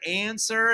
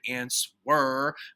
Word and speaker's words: answer: spelling that difficult word answer it has a silent w in it you know which is weird w for weird answer we say answer okay so yeah if